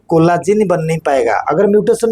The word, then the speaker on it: COL1A1: Call मतलब collagen, COL1A1, इसको shortcut में कोला बोलते हैं, कोला प्रोनाउंस करते हैं, कोला।